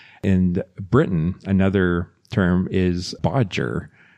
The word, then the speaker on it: bodger: Another term is bodger which rhymes with dodger or cludge or to fudge something.